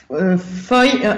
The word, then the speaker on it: PHOI: Oui, Foy, non, il n'y a pas de prononciation PHOI, nous on dit, mais en fait c'est la phonothèque historique de l'océan Indien.